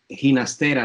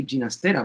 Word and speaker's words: Ginastera: Yes, Ginastera should be right. The G in Spanish is pronounced as an English H.